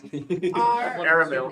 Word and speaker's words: Aramil: Aramil. Like caramel, but air. Thank you. Oh, yeah. Aramel, come on in.